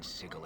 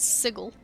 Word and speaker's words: Sigil: we can be in siegel at the worst time he calls it sigel is it supposed to be sigil i thought it was sigil well no matter as